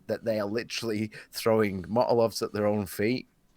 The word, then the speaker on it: Molotov: It's just like they're just going, like for them, 10% is a number so high that they are literally throwing Molotovs at their own feet. Motolovs.